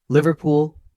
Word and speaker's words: Liverpool: Liverpool. Liverpool. Focus on the short vowel in lii and soft ending pool.